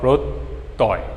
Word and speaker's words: প্রত্যয়: শব্দটার প্রত্যয়, পয়রফলা থাকার কারণে ওকারান্ত উচ্চারণ, তয় হসন্ত, প্রত্যয়, ত অকারান্ত আর অন্তস্থ।